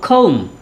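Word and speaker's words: comb: উচ্চারণটা আমরা কম বলবো না, আমরা বলবো খৌম।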